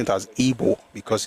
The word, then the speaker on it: Igbo: But we pronouncing it as Ebo because it's called even in the language it's Ebo but it is spelled Ibo but it's pronounced Ebo not IGBO.